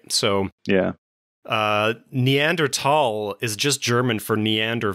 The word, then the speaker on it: Neanderthal: uh in the 1800's tall was spelled t-h-a-l but it was always pronounced tall and then uh german